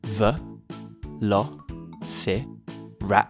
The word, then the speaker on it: Velociraptor: Velociraptor Y how do you say that again V Lo rapor sometimes they were just called Raptors Velociraptors were